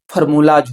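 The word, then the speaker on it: formulas: जब हम एई लगाते हैं तो फार्मूली उसका उच्चारण होता है, जब हम एस लगाते हैं तो उसका उच्चारण फार्मूलाज होता है।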